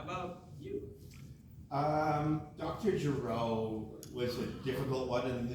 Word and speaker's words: Gero: They wanted me to pronounce Dr. Gero, because there's songs saying, I'm Dr. Gero, and then she wanted it, and I was like, no, it's not.